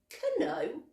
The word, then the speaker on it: know: Do I know or do I know? I know you know. K is silent. No noise. This is the N. But we have to remember to write the K.